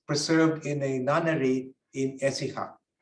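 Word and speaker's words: Écija: in a nunnery in essiha we call it but in proper Spanish Accent on the first syllable it's very fine yeah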